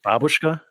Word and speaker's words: babushka: a little babushka it's actually pronounced babushka oh i'm so sorry